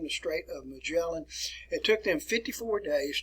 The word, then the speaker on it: Magellan: know the way you've always learned how to pronounce it ferdinand magellan ferdinand magellan all right if you insist upon